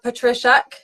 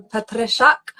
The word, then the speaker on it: Petryszak: so yeah so my my full name is patrak if you say it in Polish then Patak but uh I was